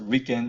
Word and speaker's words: RIKEN: So this is pronounced as RIKEN in Japanese.